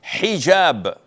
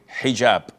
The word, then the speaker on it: hijab: What you're referring to is hijaab with an H.